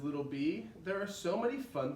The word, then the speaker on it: Bea: is spelled B EE but her name is B EA but it sounds the same B and B so she's a little